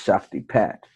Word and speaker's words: Shaktipat: That looks like it says Shakti Pat, but it's Shaktipa. That's how it's pronounced, Shaktipat, Shaktipa.